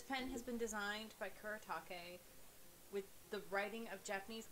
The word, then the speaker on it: Kuretake: Ooh, it's Kuretake. Kuretake. You know, try to pronounce Japanese properly.